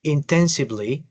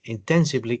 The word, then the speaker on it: intensively: algunas palabras como este intensively. Intensibely. Quítele esta e para que le suene bien. Intensively y to get to get high grades.